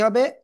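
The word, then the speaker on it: ح: তো অক্ষরের নাম কি গলাটা চেপে আপনার এক আলিফটা নিয়ে অক্ষর উচ্চারণ করতে হবে হা ঠিক আছে সবাই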